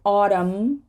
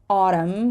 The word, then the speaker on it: autumn: m n right so autumn autumn we're not going to say autumn but autumnal autumnal column column but columnist